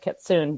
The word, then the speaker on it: kitsune: in Japan, it's the Kitsune, which I knew I wrote that out phonetically because it doesn't look like that. It looks like kitsune, but it's kitsune.